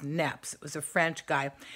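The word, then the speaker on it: Niépce: it was another guy by the name of nebs and it's spelled n e IP C E but it's pronounced Knapp's it was a French guy he had taken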